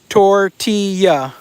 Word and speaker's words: tortilla: Tortilla. The two L's is a Y.